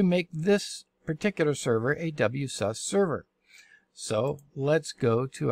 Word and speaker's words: WSUS: server update services ws some people pronounce it was some say ws i like wsus better it saves time and